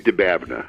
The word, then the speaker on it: Dababneh: all right hey say your name dababneh the bad I just want to say we